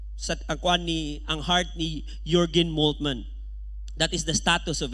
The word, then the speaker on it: Jürgen Moltmann: Okay, Jürgen, J na sa diha, pero ang pag-pronounce diya na Jürgen Moltmann.